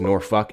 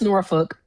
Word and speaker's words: Norfolk: Last caller definitely doesn't know that Norfolk or pronounced Norfuck is one of the major hubs the Navy has. It's pronounced Norfolk. It's I don't know why y'all say Norfolk. It's Norfolk.